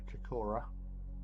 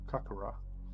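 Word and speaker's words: Kaikōura: Zealand in a a town called kakora or kakura wherever you want to pronounce it I call it kakura um and um it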